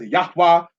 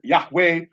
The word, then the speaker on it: Yahweh: wait say about mini as yahwah said by some as Yahweh say by some as yahuwah that's a whole other